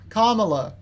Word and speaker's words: Kamala: the basis respect of saying her name correctly comma easy it's easy say it right thank you